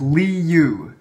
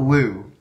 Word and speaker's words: Liu: Ching Chong Wong says, your last name is pronounced Li Yu, not Lu.